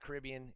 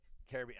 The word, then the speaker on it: Caribbean: So, but anyway, so they share to that whole Caribbean, but it's not Caribbean. It's Caribbean. I already blew it. Anyway, so they share with the whole Caribbean.